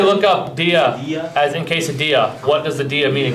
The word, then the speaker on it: quesadilla: It's pronounced quesadilla.